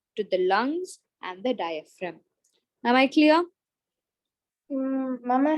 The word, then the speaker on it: diaphragm: It's called diaphragm. G is silent.